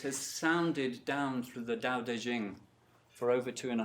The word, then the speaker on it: Dao De Jing: sounded down to the daodejing for over two and a half thousand years Dao de Jing I understand that's how you pronounce it any sign ologists here